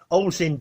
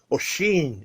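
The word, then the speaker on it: Oisín: one of my subscribers, Ozin. Just 1 second. He put, P.S. Thanks for the t-shirt. You almost said my name correctly, but it's pronounced Oshin. It's Irish, so tricky to read.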